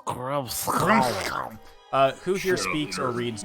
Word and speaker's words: Grimskall: pronounced Grimskall.